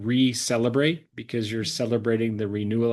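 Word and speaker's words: Reclebrate: Our our our clinic and brand is called Receleelebrate because you're celebrating the renewal of yourselves. Love that. And that's spelled R E C L E B R A T E.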